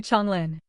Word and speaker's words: Chonglin: Gu Chonglin. The second character is pronounced Chong, not Zhang.